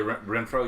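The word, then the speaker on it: Renfrow: Oh yeah, Renfro. Yeah, Renfro. Yeah. I forgot who the other. How do you pronounce it?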